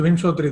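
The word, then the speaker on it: Vimshottari: The most common is the Vimshotari one. Mm-hmm. I'm not sure I'm pronouncing it right. You're right. It's the Vimshotari Dasa.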